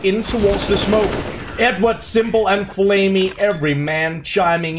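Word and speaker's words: s1mple: at my pronunciation of simple. I'm making an effort to pronounce the P in his name and not make it into a B all of a sudden.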